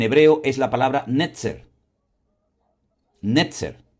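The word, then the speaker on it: נצר: Netzer. N e t z e r.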